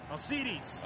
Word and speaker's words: Alcides: And you got, oh, how do you say this guy's name? Alcides.